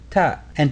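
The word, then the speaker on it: ط: Next, we move on to the letter to. This letter represents the emphatic counterpart of the letter T and deepens the quality of surrounding vowels.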